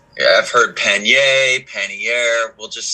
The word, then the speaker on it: pannier: carry waterproof bags called panniers. It's a French word. People all pronounce it however they want. But Word of the day, kids. right. Yeah, I've heard pannier, pannier.